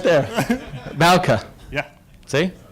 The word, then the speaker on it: Bouke: Bouke. Yeah. See? It's written. I would have pronounced it Bouke. No, Bouke.